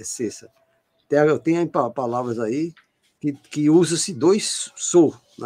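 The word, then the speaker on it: sesa: A pronúncia do cessa tem que ser com dois S. Está aqui no livro de Jair Salles. Se ela voltar, está escrito. S-E-S-A. E quando você pronuncia, ele coloca S-E com chapelo e dois S. Cessa.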